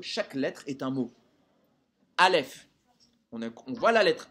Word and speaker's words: Aleph: Aleph. On voit la lettre Aleph. Mais on prononce des lettres après le A. On prononce Lef.